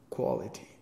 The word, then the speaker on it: quality: And you said qua, but it's o, like off. Quality.